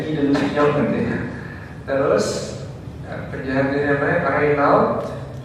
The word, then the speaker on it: Guy de Lusignan: Ya, tulisannya begitu ya, Guy de Lusignan, bacanya Guy de Lusignan katanya.